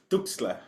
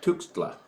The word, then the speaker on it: Tuxtla: So I was gonna say, can you pronounce that word right there? Hold on. That one. Andres Tuxtla? Yeah. Yeah, it's Tuxtla. Tuxtla.